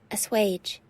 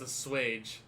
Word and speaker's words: assuage: what let's hear it assuage assuage i'm not looking at that word that is not how i would have pronounced that i would not have pronounced that as a swage which is no less